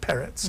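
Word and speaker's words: Perec: by George peret p r e c but pronounced rather like peret in Polish and that to me it's difficult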